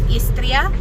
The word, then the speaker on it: Istria: are heading now to the southest point of the federal state of Istria. I don't know if I'm pronouncing that right.